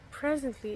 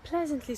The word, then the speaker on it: pleasantly: It's not presently, it's pleasantly. I'm pleasantly surprised.